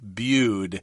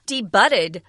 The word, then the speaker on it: debuted: the first time and so in the past tense we're adding edy so it's kind of interesting because then this word only has two syllables a debuted she debuted or came out for the first time in a comic book back in 1984 yeah be careful don't see D budded that would be incorrect it's a French word